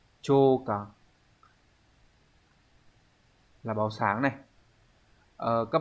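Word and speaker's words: 朝刊: Vậy thì chữ chiều sẽ đọc là chô, đúng không?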